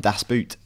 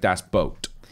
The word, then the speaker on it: Das Boot: people have all mentioned Das Boot and we're saying it wrong it's not Das Boot okay so but think of this boat when you pronounce boot like Das boat on